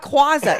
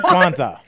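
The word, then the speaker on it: Kwanzaa: quaza oh my God it's not quaza I said Quanza yeah he said it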